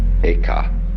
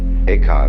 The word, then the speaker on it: Eka: Bodhidharma had a pupil by the name of Eka, Huike in Chinese. Eka is Japanese pronunciation, like Zen is the Japanese pronunciation of the Chinese Chan.